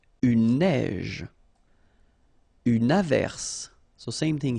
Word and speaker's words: neige: Une neige. Une averse. So same thing here. Un neige. Final E not pronounced. You only pronounce this j.